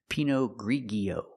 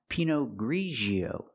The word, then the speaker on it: Pinot Grigio: Pinot Grigio The wine is not pronounced Pinot Grigio. It's pronounced Pinot Grigio. We use the sound zh like in measure and pleasure.